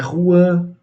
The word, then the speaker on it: Juan: Mas na realidade se escreve J, né? O J ele tem um som de R em algumas línguas espanholas, né?